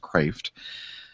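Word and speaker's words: Kreeft: um i love peter craft and it's spelled it looks like it's criefed k-r-e-e-f-t but it's actually pronounced craft which is which means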